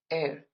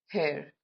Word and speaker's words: heir: We spell it as h e i r but we pronounce it as air not hair.